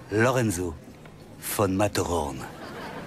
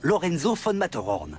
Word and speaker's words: Lorenzo von Matterhorn: Ça s'écrit comme ça se prononce, 2 T. Lorenzo von Matterhorn.